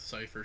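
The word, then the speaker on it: Seifer: Cypher, one of those pronunciations where it sounds like it shouldn't be to me. E-I, though.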